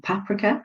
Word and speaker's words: paprika: the the amount of smoked paprika or paprika as um as you Americans say um that is really